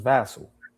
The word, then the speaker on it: Vassell: So it's Vassal. Yeah, it's Vassal. Vassal and Castle. That's crazy right there. 5-point ball game, y'all. I mean, unless all my life I've been saying my man's last name wrong. Well, I've been saying Vassell.